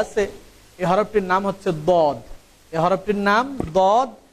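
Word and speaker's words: ضاد: দেখুন আমাদের এখানে প্রথম যে হরফটি দেওয়া আছে এই হরফটির নাম হচ্ছে দদ। এই হরফটির নাম দদ। আমরা অনেকে এটাকে দোয়াদ বলে থাকি, এর নাম কিন্তু দোয়াদ না, এর নাম হচ্ছে দদ।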